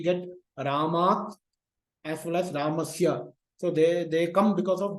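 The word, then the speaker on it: Rāmaḥ: So that is why Rama plus S will become Ramas and it will be pronounced as Ramaha.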